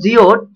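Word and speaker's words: geode: Next, the word ஜியோட் should be pronounced as.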